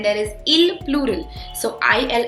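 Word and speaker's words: ils: So i l s but the pronunciation is il. They do not pronounce the s at the end.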